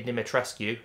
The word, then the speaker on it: Dimitrescu: Obviously, in this game, you've got the Lady Dimitrescu, and yes, that's what we'll be naming her as, because that's how you pronounce it, ladies and gentlemen. The U is not silent.